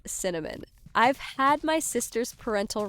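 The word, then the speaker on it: Synamin: S Y N A M I N pronounced Cinnamon.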